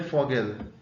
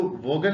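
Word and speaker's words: Vogel: मान का मतलब आदमी दे फोगल। इसको वोल नहीं बोलेंगे। इसको फॉगल बोलेंगे। जैसे FSवान में फ बोलते हैं। वी को वैसे ही फोगल बोलेंगे।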